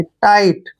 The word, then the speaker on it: tight: जैसे TIGHT, इसको ticket नहीं पढ़ना है। देखिए TI को हम टाई पढ़ेंगे, क्या पढ़ेंगे? टाई। और टी से पहले जब भी GH आता है, GH को हमने साइलेंट रखना है, यानी कि GH को हमने पढ़ना ही नहीं है। टी को टे लिखेंगे।